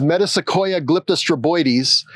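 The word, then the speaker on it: Metasequoia glyptostroboides: It's pronounced metaoya glyippoides.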